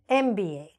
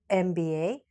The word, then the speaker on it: MBA: has a vowel sound so the letter M is like e mmm so therefore we cannot say he has a MBA we say he has an MBA all right or he